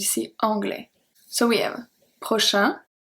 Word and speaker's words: prochain: Here the pronunciation is very different, because prochain, A-I-N, make the sound un, while prochaine, because we pronounce the N, because the E give its power back, the A-I is pronounced E, so we have prochaine, prochain, prochaine, okay?